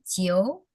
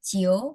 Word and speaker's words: 酒: Kalau alkohol itu artinya, kalau alkohol cara bacanya jiu, jiu. 酒， Sama tadi cui itu beda ya. Cui itu kan Z, cui sama jiu pakai J, jiu, jiu.